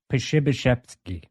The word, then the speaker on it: Przybyszewski: Pashibashevsky. Pashibashevsky? Pashibashevsky. With a V, like a V sound.